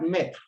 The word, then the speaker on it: maître: Let's look at maître. There's accent on the E does not change the sound. It's the E together with the A that gives the sound E.